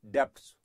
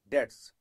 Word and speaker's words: debts: called B add debts please don't call it depts it is debts B is silent in this world so naturally bers is